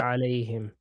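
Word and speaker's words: عَلَيْهِمْ: alayhim. Here we're pronouncing it like him.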